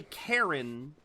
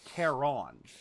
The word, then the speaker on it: Charon: So even though they say Karen, I believe the actual pronunciation is Charon. You put a little bit more emphasis on the O. In Greek, at least.